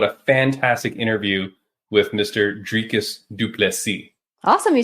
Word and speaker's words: Dricus Du Plessis: back rain what a fantastic interview with Mr dricus dupi awesome you said it right dricus dupy yeah anyone who wants to know how to pronounce his name talk to me message me